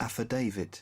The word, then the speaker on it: affidavit: a UK company, where the UK sounds like this. Affidavit. Oh, affidavit. And here's Affidavit. affidavit. Affidavit. Affidavit. Affidavit. That's not even. If I heard someone say it like that, I would think they're a foreigner. Affidavit. That's not how an American would say it.